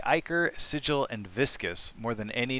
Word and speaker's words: Sigil: Sig, like Sigourney Weaver.